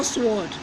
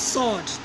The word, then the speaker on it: sword: asanas watch is no sward is sword they W silence then torches now USA